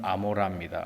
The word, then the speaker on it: 고모라: 고모라는 실제 발음은 아모라입니다. 아모라. 고모라라고 부르지 않습니다. 근데 이게 번역을 자꾸 하다 보니까 한국말로 이게 고모라로 돼서 고모라지 고모라는 아닙니다.